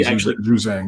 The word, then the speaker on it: Juzang: Jazang, I think is his name. Did I say it right? Yeah, Johnny Juzang.